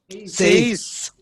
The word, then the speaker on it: seis: Seis. Many are wrongly saying CS. It's not CS. It's seis. Seis. S-E-I-S.